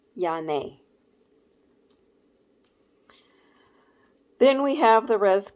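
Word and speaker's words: Janne: oldest son followed by Rachel and then j-a-n-n-e pronounced yane then we have the res kids recently nicknamed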